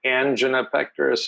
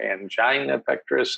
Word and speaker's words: angina pectoris: life that's been called angina pectoris or angina pectoris and both are fine pronunciations for actually literally hundreds